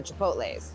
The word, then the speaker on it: chipotles: And then your heat's gonna come from the chipotles.